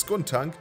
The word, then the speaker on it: Skuntank: Tank ausgesprochen skank skunank okay es ist skunank der Name kommt von skun und Gestank das heiß es ist